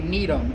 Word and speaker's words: Gnetum: But this is a Gnetum. It's spelled G-N-E-T-U-M.